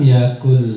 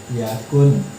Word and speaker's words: yakun: Kita sering bacanya begini, walam yakul nih lahu, padahal bukan begini. Yang betul itu walam yakun kaf yakun lahu. Awak kebanyakan sering mendengar imam pakai kata ini, alam yakul gitu, pakai qaf, padahal harusnya kaf, beda.